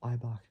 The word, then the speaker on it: Eibach: So Eibach, so it's spelled EIBACH. So Eibach springs. So it's basically German suspension.